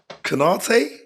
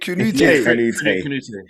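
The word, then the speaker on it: Kanouté: Kanate? No, you didn't say it right, but you're getting the right person. Frederique Kanute.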